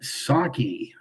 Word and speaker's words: Psaki: Jen Psaki, the P is silent.